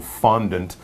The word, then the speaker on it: fondant: should point out that this is a French word and I think it would sound more like fondle in French but we're using yeah we're using sort of the common English pronunciation fondant but if you say